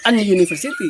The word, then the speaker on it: university: gimana gitu Kanah jadi yang diperhatikan bukan hurufnya tapi suaranya ya jadi University bukan University ya karena suara hurfnya adalah y ya Saya kira jelas